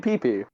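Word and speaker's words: Pepy: Its name is Pee P. Spelled like P E P Y, you know, like no no no relation to P or or penises.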